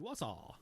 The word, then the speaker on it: Wausau: Hey, he gave me a pronunciation guide. Wausau.